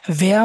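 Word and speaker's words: wer: ভেয়া মানে হচ্ছে হু বা কে। আমি জিজ্ঞেস করি না সে কে অথবা সে তোমার কি হয় এরকম কিছু, তাহলে এটা হচ্ছে কে। ভেয়া হচ্ছে কে।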